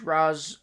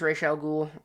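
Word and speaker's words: Ra's al Ghul: Uh, Liam Nz re Raz. I think it's Raal Ghoul. I normally say Raz. I know it's I know it's wrong, I think, but it's they say the woman at the party says Mr.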